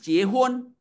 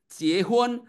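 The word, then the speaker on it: 结婚: Contohnya kalau saya di orang saya di Cina, di Cina sana, di Cina daratan sana kalau ngomong menikah itu ciehon ya. Ciehon. Sekali lagi ya. Ciehun.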